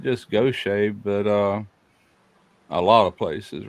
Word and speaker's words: Gaucher: even went to school with a lot of people with the last name Goshay, and it's spelt the exact same way. It's just the way it's pronounced.